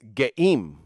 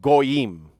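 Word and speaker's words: גאים: yods and a mem, it actually spells as geim, which that's how you would spell it, geim, instead of goyim. It will be geim, because remember, there's no vav there.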